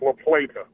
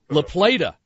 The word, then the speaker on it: La Plata: Pronounced La Plata. La Plata. You got it, yeah.